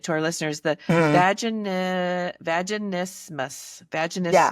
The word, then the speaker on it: vaginismus: vaginismus. Yeah. Vaginismus.